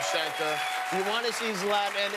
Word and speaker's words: Zlatan: at the stubhub center you want to see zlatan zlatan is the correct pronunciation yes love them thank you very much